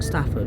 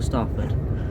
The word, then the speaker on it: Stafford: uh crew and uh Stafford or staford depending on how you say it so on the way